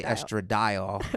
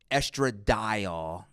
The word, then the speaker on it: estradiol: Yeah, I say estradiol.